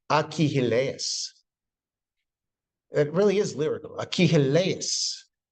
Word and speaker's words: Achilles: the belligerent prima donna of the Iliad is Achilles. The Greeks would say Achilles.